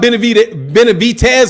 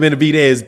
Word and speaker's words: Benavidez: Eric Stozer, Fanon, what about Benavidez or Dez? Benavidez? I always say Benavidez. I don't say Benavidez. If you say I need to pronounce it David Benavidez instead of Benavidez, that's a D in that.